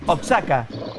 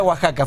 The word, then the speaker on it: Oaxaca: Que los argentinos le decimos Oaxaca. Claro, y es de Oaxaca. Se pronuncia Oaxaca.